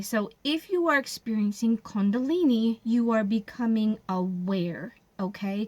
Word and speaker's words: Kundalini: Kundalini.